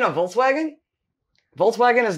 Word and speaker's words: Volkswagen: them in the car oh and your friend's Volkswagen huh you don't to say it that way Volkswagen the car okay hold on hold on we're